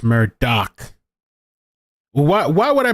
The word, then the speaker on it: Murdaugh: um so oh yeah somebody posted on Twitter by the way it's mer doc why why would I pronounce pronounce Murda Murdock I feel like